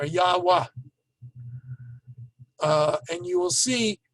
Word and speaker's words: Yahweh: sound is an ah then you have the letter v which while biblical times was probably pronounced as a w like in in arabic what today it's pronounced as a v sound and then hey on the end again so yava or yahwah uh and you will